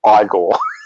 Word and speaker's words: Igor: be igor in it he's like no it's pronounced igor and the hump constantly is moving from which